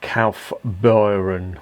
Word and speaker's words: Kaufbeuren: known the action brewery calf byron i think that's how it's pronounced don't give me a